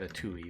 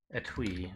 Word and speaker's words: etui: and other articles interesting how do you actually pronounce it i've said a tui but a twee okay um oh you